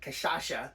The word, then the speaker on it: cachaça: Brazil, we went to a bar that sold cachaça.